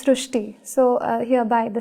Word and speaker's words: Srushti: So in Marathi, the word Ri is pronounced as Ru. So that is why the pronunciation goes Srushti.